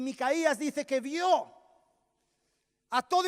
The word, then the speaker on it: Micaías: Micaías, porque tú Micayas es otra cosa, ¿no?